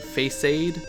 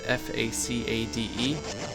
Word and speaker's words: facade: I was a kid I used to call him fate face aid because I didn't know how to pronounce facade faça de and he was a